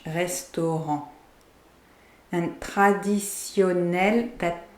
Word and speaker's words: restaurant: So the last T of restaurant in English, restaurant en français, the T is silent in French, restaurant.